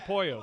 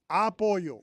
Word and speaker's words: apoyo: Apoyo. Come on, dude. He didn't ask for any of this. Put the emphasis on the wrong syllable.